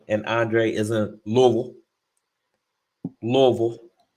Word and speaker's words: Louisville: andre is in louisville louisville that's how they say it louisville so you just